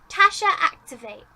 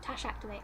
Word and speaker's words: Tash Activate: And number 4, last but not least, Tasha Activate, or Tash Activate. Tash Activate. That's how you say it, Tash Activate, I'm sure.